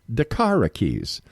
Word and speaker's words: DaKara Kies: air and I was asking darara how she pronounces her name and she says just remember darara keys so there we go let me tell you